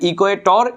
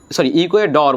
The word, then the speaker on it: ইকুয়েডর: দেখেন, ইকুয়েটর, এটাকে স্প্যানিশ উচ্চারণকে বলা হয় ইকুয়েটর, ইকুয়েটর। ওকে, ইকুয়েডর বলা হয়, ইকুয়েডর। আমরা ইংলিশে বলি টর, এটা বলে ডর।